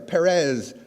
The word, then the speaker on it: Perez: you hear the or Perez or Martin Martinez okay it's Martinez it's Perez and it's Dias okay that always bothers me one simple rule Z is an S okay that bothers me